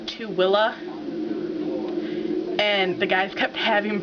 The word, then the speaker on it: Tooele: you didn't put two and two together um tuella most interesting name yet it's spelled t o o e l e but it's pronounced TOA and the guys kept having problems pronouncing it